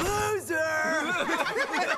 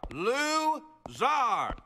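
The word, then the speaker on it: Lou Zarr: My name is... Loser! It is pronounced Czar. Lou Czar.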